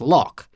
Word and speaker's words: LOQ: For example, the redesigned and lighter LOQ, which apparently I meant to pronounce lock.